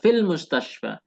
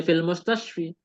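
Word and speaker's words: في المستشفى: sakit n fil mustasfa kita membacanya fil mustasfa tidak menjadi fil mustasfi Walaupun ada Fi Tetapi dia fil mustasfa kasrahnya muqadarah Pak nomor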